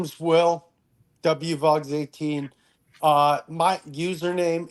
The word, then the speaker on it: WVOGS: last name is Vogal so it should be W voges so I go by w vogs w voges 18 more like w vogs even though my last